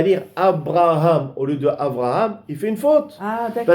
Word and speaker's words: Avraham: doit dire le nom, on doit dire Avraham. Avraham, exactement. Un même point. Celui qui monte à la Théba, Absolument. Qui porte ce prénom, bien prononcé, bien prononcé, Avraham.